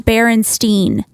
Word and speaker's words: Berenstain: makes no sense because it's pronounced Berenstein right so of course you're gonna think it's spelled with an E yeah it's crazy yeah